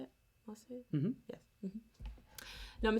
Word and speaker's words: Marseillaise: Marseillaise?